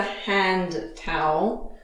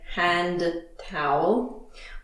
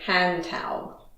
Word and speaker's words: hand towel: This is called a hand towel because we use it to dry our hands. And be careful of the pronunciation. We don't usually say hand towel. We link it and we say hand towel.